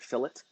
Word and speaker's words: fillet: tool called the fillet it looks like fillet but pretty people pronounce it fill it and click on that